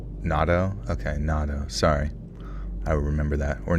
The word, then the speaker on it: natto: Um, we're going to be pronouncing it's pronounced natto. Okay, natto.